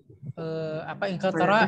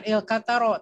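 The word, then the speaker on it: إنكلترا: Ya, Inkaltara itu bacanya enggak ro ya, tara. Karena Inkaltara itu artinya adalah Enggak ada kenapa? Iya, tidak tasjid. Bacanya bukan Ilkataro tapi Inkaltara. Tara. Ya, jadi tidak ro bacanya ra, Inkaltara. Nah, begitu bacanya.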